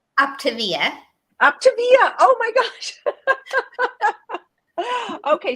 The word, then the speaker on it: Optavia: It's because it's for optimal health, right? So think Optavia.